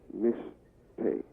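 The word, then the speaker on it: משתה: It's pronounced mishteh. Spelled in Hebrew, mem, sheen, tav, hey.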